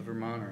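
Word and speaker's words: Vermonter: consider myself to be a a Vermon and don't pronounce the T you know great job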